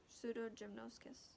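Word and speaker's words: Pseudogymnoascus: White nose syndrome is caused by a fungus, which I need to see the pronunciation for. It is Pseudogymnoscus. Pseudogymnoscus, yes.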